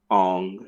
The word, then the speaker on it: Aang: you'll pronounce those names aang will be pronounced on and iro will be pronounced